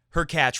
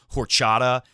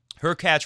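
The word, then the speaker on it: Hurkacz: 20s lower ranked obviously her catch rhymes with latch which I don't know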